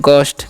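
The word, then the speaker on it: ghost: Next हमारा है इसे हम पढ़ते हैं जी साइलेंट होता है, सॉरी एच साइलेंट होता है, यहाँ पर जी गलती से हो गया, ठीक है। इसे हम पढ़ते हैं गोस्ट, क्या पढ़ते हैं गोस्ट, ठीक है।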